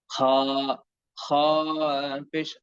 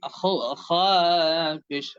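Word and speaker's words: خ: আর খ অক্ষরটির উচ্চারণ হয় মোটা, জিহ্বার গোড়া হালকা কিছুটা উপরের দিকে উঠিয়ে সুন্দর করে এবং আওয়াজ এবং কণ্ঠস্বর ভারী এবং মোটা করে দুই ঠোঁটকে কিছুটা সংকীর্ণ রেখে খ খ পেশ খ খ পেশ খ।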